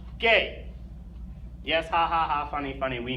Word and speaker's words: G: letter for some reason the letter G is pronounced gay yes hahhaa funny funny